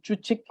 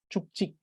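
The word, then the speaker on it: བཅུ་གཅིག: Thus, what it does is that instead of this being chuchik, the sound of k adds to the end of chu, making it chuk, and this becomes chik. So instead of chuchik, it becomes chukchik, chuk, chik. And this is why there is this change in the sound.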